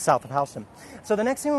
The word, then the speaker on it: Houston: same as Houston the city but it's we pronounce it Houston here and Soho is simply south of Houston and that is that section of town which